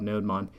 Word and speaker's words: nodemon: So I'm going to do a npm I-g NodeDaemon, or NodeMon, however you want to pronounce it. A student called me out on that. Basically, it's a monitor for the Node server, so it makes sense that it's called NodeMon. But I'm almost positive that